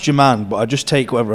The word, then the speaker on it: Jerman: Is it pronounced German? It's pronounced Jerman, but I just take whatever I get, to be honest.